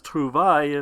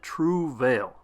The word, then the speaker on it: Trouvaille: Right away, I asked Kent if the pronunciation was Trouvaille, if that was how it was going to be said, because it might be confusing to most Americans. The response was no, it is to be said Trouvaille.